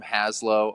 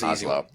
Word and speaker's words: Hazlo: I'm pumped today to have Sam Moore from Haslow on the podcast. Sam, how are my friend? How are you? I'm good. Actually, the the name is pronounced Oslo, so we can just re Oz.